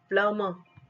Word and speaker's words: plumber: receipt, plumber, ब का pronunciation नहीं होगा, should, ल का प्रोनाउंसिएशन